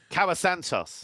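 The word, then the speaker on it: Kauã Santos: And they're playing a Brazilian whose name I can't pronounce and won't try. I'll leave that to you. Cawa Santos.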